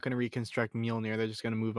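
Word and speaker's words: Mjölnir: just like in well, you do pronounce the J in Mjolnir. It's just like it's like a Y. Yeah. It's like so Mjolnir or something like that.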